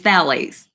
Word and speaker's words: phthalates: The first one is phthalates. And you're like, the P is silent with phthalates.